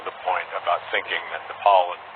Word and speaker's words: Nepal: point about thinking that Nepal and Bhutan which incidentally he also mispronounced as nipple and button or part of India